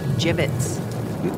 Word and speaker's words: gibbets: here dead end hey look avery had some gibbots left over gibbets what it's pronounced gibbets are you sure yeah well no one likes